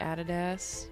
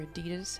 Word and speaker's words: adidas: different shoes let's look like added s or adidas however you want to pronounce that we tend to say added s in Australia cool kicks down here